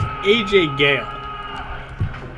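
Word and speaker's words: Ajay Ghale: AJ G what I'm pretty sure it's AJ Gil why is everyone pronouncing it AJ come on oh [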